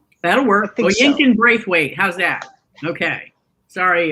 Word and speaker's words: Oyinkan: It's My Sister the Serial Killer by Oinken Braithwaite. And I probably did not pronounce that first name properly. I feel like there's another syllable in there. I think it's Oyinkan. That'll work. Oyinkan Braithwaite.